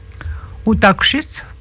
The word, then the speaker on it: Otakushit: Otakushit, il y en a qui ont de la difficulté avec ça. La prononciation, là. Otakushit.